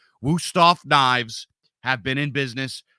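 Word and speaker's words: Wüsthof: the standard this is wusthof I'm sorry if I'm saying it wrong but that's how we say it in America wusthof Knives have been in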